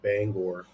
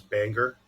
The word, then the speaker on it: Bangor: I'm like, how do you pronounce the word or? I'm like, now put them together, bang or.